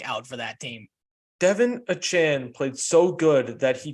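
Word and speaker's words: Achane: Where it came out, they were like, call me Achan. Yeah. Because I'm glad because I didn't know how to pronounce his last name.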